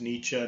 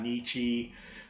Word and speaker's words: Nietzsche: Last name Nietzsche, and notice that's how it's pronounced. It's Nietzsche, not Nietzsche, just like you shouldn't call the car a Porsche, or you probably don't deserve one.